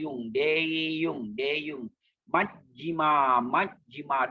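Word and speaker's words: majjhima: Majjima, Majjima. Don't say Majjima, Majjima, Majjima. You must pause at double J.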